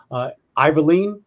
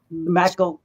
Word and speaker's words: McIlveen: And that's Nelson Iverleen. Did I say that right? McIlveen. I did not say it right.